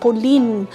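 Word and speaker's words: Polène: In French, it's actually pronounced Polene, but since we are saying it in English, we have a choice to say it in English, like their website.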